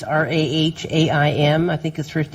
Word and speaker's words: Rahaim: He pronounces it Ram. It's Rahaim.